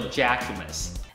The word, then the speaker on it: Jacquemus: 那它的名字呢叫做 Jacquemus。 And my choice here is the Jacquemus Le Chiquito.